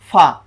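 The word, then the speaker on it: ف: গাইন এরপরে কি আসতেছে ফা উচ্চারণটা কি হবে এক আলিফে ফা ফা এভাবে ফা তারপর আসতেছে কফ কফ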